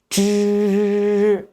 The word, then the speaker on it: zhi: The pronunciation of zhi is basically the same as that of shi, except that the tip of the tongue is slightly rolled up and the vocal cords vibrate while pronouncing.